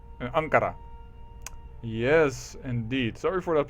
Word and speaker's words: Ankara: start of the Ottoman Empire starts here in anara in Ankara yes indeed sorry for that pronunciation in Anar and we are going to